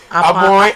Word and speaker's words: Apowa: There's one they spell APOWA. Apoy. They say it's pronounced Apoy.